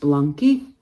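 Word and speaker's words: Blanqi: So this, I think it's pronounced Blunky, B-L-A-N-Q-I.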